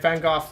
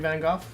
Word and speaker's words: Van Gogh: It's Van Gogh, even though for the longest time everyone pronounced it Van Gogh. But it apparently it's supposed to be Van Gogh?